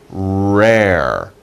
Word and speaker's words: rare: They are rare. Be careful pronunciation. You have 2 R sounds.